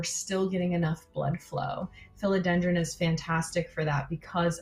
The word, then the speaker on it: philodendron: want to be clear it's not the same but it's pronounced the same uh so philodendron um and that's used